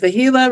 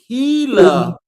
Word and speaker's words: Gila: Fantastic service for the Gila River Resort.